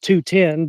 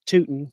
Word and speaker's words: Tootin: They'd always call me root and tootin in school or uh it's actually pronounced 210, but they always pronounce it tootin. Totin would be t o ten.